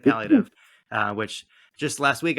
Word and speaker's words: palliative: um but um te technically speaking uh P pallative um so four four syllables there um but I think you both equally understandable or pale maybe it's pive Pate symptoms so I guess pallative is probably correct I granted I'm from